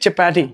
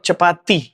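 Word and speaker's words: chapati: So flip चपाटी, नॉट चपाती। बोलने को हम बोल सकते हैं क्योंकि प्रोनाउंसिएशन हमारे इंडियन प्रोनाउंसिएशन है, तो आप बोल सकते हो चपाती, बट चपाटी इज the correct version अगर इंग्लिश से जा रहे हो तो आप।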